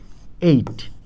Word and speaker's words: ate: সবসময় ঠিক থাকতে হবে এটার উচ্চারণ হল এইযে ইংরেজি এইট এর মত এইচ যখনই আপনি এটাকে